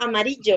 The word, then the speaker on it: amarillo: Okay, Shan, what about amarillo? I will separate it in syllables.